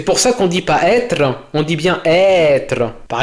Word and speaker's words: être: Par exemple, on ne dit pas estre, on dit bien être.